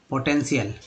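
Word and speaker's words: potential: पो, EN को N बोलते हैं, T को T, पोटेन, TIAL को CL बोलते हैं, याद रखिएगा CL, पोटेंशियल।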